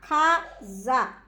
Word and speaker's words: casa: Qual é a sílaba mais forte quando você pronuncia é o cá ou é usar casa casa com a mais forte aviasport quando você